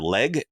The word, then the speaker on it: Legge: this guy named Alexander Legge. I think it's how you pronounce it. It's Legge.